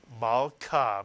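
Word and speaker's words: מַלְכָּה: Can you read the first syllable? If you said mal, you're correct again. Mal. The shva under the lamed is silent. Tells you to add the lamed to the preceding letter and vowel. Mal. And the second syllable? Ka. Mitsuyan. And you put these two syllables together, you get the word Malka, Mitsuyan.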